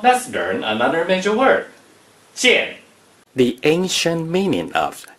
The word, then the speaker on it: 件: 剑 is the fourth tone.